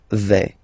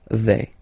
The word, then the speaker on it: vais: Okay, first person here, je vais. Remember, final S not pronounced. Je vais.